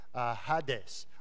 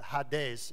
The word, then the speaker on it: Hades: may have heard the the terminology hadees or Hades as some someone like me would pronounce it but ha days is the the way that the Greek would pronounce it this is if